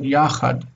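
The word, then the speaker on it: יַחַד: Okay, so how would you pronounce this word? Yes, good, yachad.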